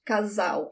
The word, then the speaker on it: casal: Casal. Casal. When the L is the last letter of the word, you do not roll your tongue. It sounds like a W in English. Casal.